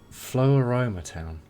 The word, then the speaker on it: Floaroma Town: How do you ever pronounce this place? Floaroma Town.